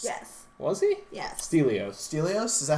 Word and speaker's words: Stelios: 400 I think 301 salvation Spartans um was stelios yes was he yeah stelio stelios is that how you pronounce yeah you're right is the only friend